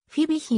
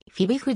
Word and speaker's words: Fibich: チェコの作曲家日本ではフィビヒないしフィービ日の発音および表記が一般的になりつつあるがフィべっちの ch の発音はチェコ語では無税音でしかも洗うとであり不または口に近い本稿ではチェコ